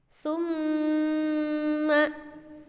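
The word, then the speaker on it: ثُمَّ: Maka cara membacanya menghentakkan suara mim tersebut. Summa.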